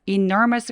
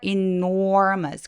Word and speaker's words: enormous: to an enormous 그래서 enormous 할 때 enormous enormous 아니라 enormous 마치 or a or B 할 때 or 발음이 있는 것처럼 enormous라고 소리해 주세요 enormous 아니고